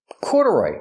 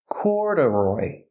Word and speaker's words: corduroy: Corduroy. Pronunciation. Corduroy. The stress is on the first syllable. Corduroy.